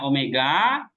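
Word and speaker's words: ωμέγα: Nah, ini bacanya omega, O panjang. Kalau ini omikron, O kecil ya, seperti kayak Latin juga.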